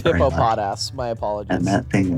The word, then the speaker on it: Hippopotas: you on one thing you've horribly mispronounced something you said but it's it's a hippopotas it is hippo pod ass my apologies and that